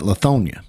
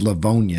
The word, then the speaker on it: Livonia: No, this is Livonia. It's got a V in it.